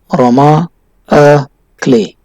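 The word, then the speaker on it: roman à clef: aroma ah clay as it is french a pronunciation is quite different roma a clay and f stands for french it means or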